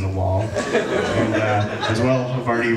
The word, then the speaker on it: Havarti: And now he's just another brick of cheese in the wall, and as well, Havarti rhymes with party.